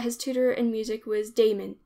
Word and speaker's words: Damon: tutor in music was Damon whose name they say should be pronounced with the first syllable short Aristotle however says that